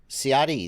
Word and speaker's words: Ciati: Ciati, that's how you pronounce his name.